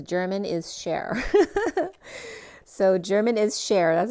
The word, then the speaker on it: Germanischer: It's literally spelled German and then ISCHER. That's so funny because it literally says German is share.